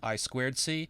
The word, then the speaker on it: I2C: boards the i2c that you see here is pronounced i squ c it's a communication standard for connecting peripherals to